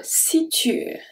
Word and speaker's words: situe: Se situe, situe. The E at the end is silent.